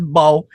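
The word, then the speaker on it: Mbow: Don't pronounce the M. It's just Bo.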